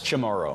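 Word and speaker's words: Chamorro: Chamarro. Chamro.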